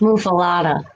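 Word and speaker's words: muffuletta: But yeah, And it's pronounced muffalata.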